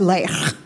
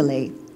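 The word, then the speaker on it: Leigh: they called me Lee. It was spelled L-E-I-G-H. I went to Mexico. Mexico, they pronounce it as Lech. It's not pretty.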